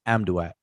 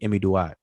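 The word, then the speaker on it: Amduat: living below amy amy most people pronounce it as am duet the book of the am doubt but it's really emmy do i okay so um but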